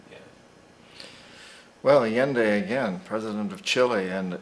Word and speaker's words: Allende: foul play so let's move on to uh alien day is that the pronunciation yeah well alien day again president of chile and um allende went